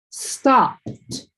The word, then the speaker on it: stopped: Even though you see that ed, the sound is t. So, the word's going to be pronounced like stopped.